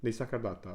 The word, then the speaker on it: Nisargadatta: Nisargadatta. Okay, cool. Nisargadatta. Yeah. I'll never get it. Okay. Nisargadatta.